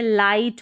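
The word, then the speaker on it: light: तो जैसे ये नाइट हो गया, ठीक है, लाइट हो गया, और ये है राइट।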